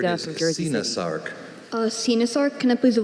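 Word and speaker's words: coenosarc: Sinasarc. Sinasarc, can I please have what information? A Sinasarc, also pronounced Senasarc or Sinosarc, is a noun.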